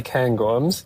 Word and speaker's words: Cairngorms: I say Cairngorms, but I'm not Scottish.